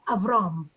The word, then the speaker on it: Avraham: would almost certainly be avraham okay so it would stop the same name and the pronunciation is going to hit that last syllable you know my name